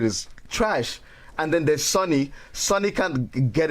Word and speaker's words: Sony: Sony Sorry. rhymes with Boney.